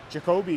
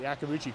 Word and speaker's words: Yakabuchi: Jacoby couldn't keep it in. I mean, Yakabuchi, that's how you say it. Yakabuchi couldn't keep it in.